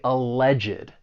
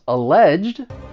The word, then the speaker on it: alleged: So, the stress is going to be on that second syllable. But you may hear some people add an extra syllable because of the ed and they're going to say alleged and then it becomes three syllables. And I think that may be more common in the US, but but let's hear both.